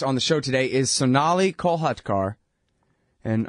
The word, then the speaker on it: Sonali Kolhatkar: the show today is Sonali kolhatkar and I'm sorry ma'am for not pronouncing your name correctly yeah you did you did perfectly oh really hey and